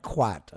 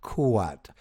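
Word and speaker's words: Khuad: studying with lump kuat not kat as you may see in k hu a d it's actually pronounced kuat as in k o hyphen a t kuat at wat Yeah.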